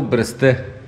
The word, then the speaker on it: Бресте: Намираме се в село Бресте. Важно е да се уточни, че ударението е на последната сричка.